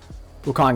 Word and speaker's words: Wukong: Wukong is how you pronounce it.